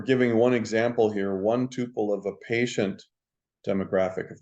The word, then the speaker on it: tuple: double P it would be Tuple but it's Tuple it's pronounced Tuple and a tuple is a complete